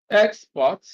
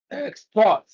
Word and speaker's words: export: So when it is used as a verb, stress is on the second syllable. When used as a noun, stress is on the first syllable.